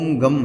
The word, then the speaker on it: गं: गण के आदि अर्थात ग का पहले उच्चारण करें, उसके बाद वर्णों के आदि अर्थात अ उच्चारण करें, उसके बाद अनुस्वार उच्चारित होता है। इस प्रकार अर्धचंद्र से सुशोभित गम ओमकार से अवरुद्ध होने पर तुम्हारे बीज मंत्र का स्वरूप ओम गम है।